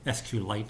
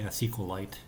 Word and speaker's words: SQLite: I like to say SQLite, that's how I pronounce it, but it's a SQLite, or it's SQLite.